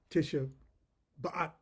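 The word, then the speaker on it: Tisha B'Av: and in culture uh tisha bat i'm sure i'm saying that incorrectly but the rabbi told me that was the correct way to pronounce that anyway it deals with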